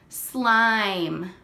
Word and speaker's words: slime: mmm what's this word slime now remember we don't say the sound for E because E is silent when it gives its power to the vowel when we take it